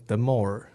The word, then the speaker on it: DMORE: 没事，我们的店叫做 DMORE，是念 The More，然后中文名的话我